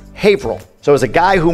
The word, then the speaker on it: Haverhill: Same with Haverhill. No, it's Haverhill.